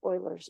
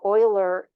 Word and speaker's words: Euler: So this becomes Euler's number. Now, Euler looks like Euler, but it's pronounced Euler. It's a German name. He lived in the German part of Switzerland.